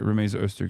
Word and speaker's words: Rumeysa Öztürk: I keep saying her name wrong. Okay, no, I did say it right. Rumeysa Öztürk is the person.